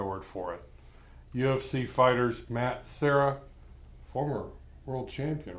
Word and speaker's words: Serra: Terror to the Serra. It rhymes.